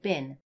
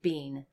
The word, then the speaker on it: been: been to bin, because when we actually say it, we say bin. We don't actually say been.